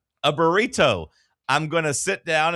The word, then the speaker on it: burrito: It's a T, not a D. You're saying it with a D.